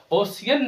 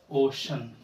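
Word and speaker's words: ocean: ओशियन नहीं होता है प्यारे बच्चे। ओशियन होता है। इसको हम लोग पढ़ते हैं ओशन।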